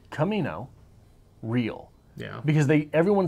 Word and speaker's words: Camino Real: looks like Camino Real I think it's actually supposed to be pronounced Camino rail but something in the back of my mind said something's weird here look it up and